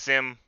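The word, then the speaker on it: CIM: a sim c-i-m um it's pronounced sim it's a little bit weird it's an acronym to the motor company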